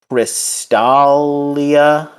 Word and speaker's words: Crystalia: And and she has to go to the planet Crystalia. Yes. And did I pronounce that right? You said it right.